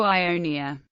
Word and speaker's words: Ionia: In modern Greek, omicron and omega represent the same sound, but the two words are still distinguished by stress. The western, Ionia, is accented on the antepenult, and the eastern on the penult.